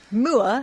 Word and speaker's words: Moore: Moore? Mandy... Well, that's how it's pronounced, mate. Moore. Okay. Mandy Moore. Would you like some Moore tea? No, but her name is spelled M-O-O-R-E. Moore.